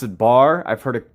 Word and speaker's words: Bargue: might pronounce that wrong I think it's a French word I used to pronounce it bar I've heard it pronounced baru uh but I'm pretty